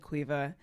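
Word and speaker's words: Caoimhe: is spelled n-i-a-m-h and cueva is c-a-o-i-m-h-e of course it is quite clearly quiver a fantastic language it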